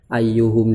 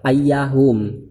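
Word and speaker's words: أيُّهم: Sehingga kalau seandainya dia dihukumi mu'rob, otomatis bacanya adalah ayyahum. Tapi di sini bacanya ayyuhum.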